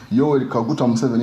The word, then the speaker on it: Yoweri Kaguta Museveni: Am I pronouncing it correct? Yoweri Kaguta Museveni.